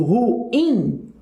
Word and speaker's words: ruim: Aqui, quando eu pronuncio ruim, aqui nesse caso, não dá para ser ditongo, porque eu tenho aqui um hiato, ruim, ok? Então, eu tenho uma divisão aqui de duas vogais aqui, ruim.